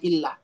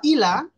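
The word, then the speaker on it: إلا: beramal saleh dan seterusnya Kalau benar bacanya Illah tapi kalau bacanya enggak pakai tasdid atau kurang tasdidnya jadi ilah Dariah Ajam berubah menjadi ilah Wah ini maknanya fatal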